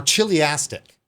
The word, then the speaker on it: chiliastic: He begins with a treatment of socialism as a generic idea that he terms chiliastic, or chiliastic. With chiliastic would be like the kind of English pronunciation of this.